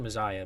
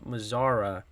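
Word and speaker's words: Mazara: I said Mazaya, but I think I said that the other day. Nomar Mazzara batting ninth. I think I said Mazaya the other day. So it's my bad again with the pronunciations.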